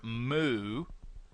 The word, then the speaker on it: mu: using the Greek letter moo it's spelled mu it's pronounced move just like what a cow would do and I'm using that